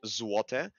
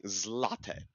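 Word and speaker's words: złote: because again it's pronounced zuote but we use a special character with an l with a slash with it that basically acts as a w right so it's pronounced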